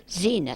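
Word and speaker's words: Xenia: Ference Silver, and my mother was X-E-N-I-A. Zena Silver. Aren't those great names?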